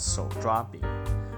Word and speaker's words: 手抓饼: In Chinese, it's pronounced as 手抓饼, which literally means the pancake you should eat with your hands.